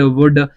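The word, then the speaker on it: would: जैसे कई सारे वर्ड्स जो होते हैं, हम जैसे इंग्लिश में कई सारे वर्ड्स यूज करते हैं, कुड, वुड, तो इनमें एल साइलेंट रहता है, वो एक्सेप्ट वर्ड होते हैं, एक्सेप्शंस होते हैं।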